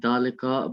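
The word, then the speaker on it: ذلك: a house and that is a mosque is pronounced uh dalaika but is written with alif without olive the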